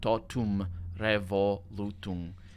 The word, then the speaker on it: totum revolutum: Totum revolutum. In English, this would probably be tot, those would be the syllables, and then re, vol, u, tum, those would be the syllables there.